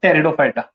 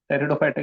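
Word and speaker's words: Pteridophyta: तीसरा पढ़ेंगे अपन टेरिडोफाइटा, टेरिडोफाइटा की स्पेलिंग पी से होती है, टेरिडो टेरिडोफाइट्स, ठीक है।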